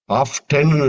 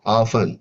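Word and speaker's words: often: கேசல் இதுல வந்து டி சைலண்டா இருக்கு ஆபன் ஆப்டன்னு சொல்ல மாட்டோம். ஆபன் அப்படின்னா டி சைலண்டா இருக்கு.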